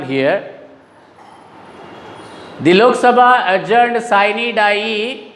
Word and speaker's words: sine die: The Lok Sabha adjourned sine die. See the pronunciation there, sine die, not sine die. Don't pronounce it like that.